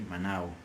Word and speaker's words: manao: And it is pronounced with a slight W sound, so we say manao, manao.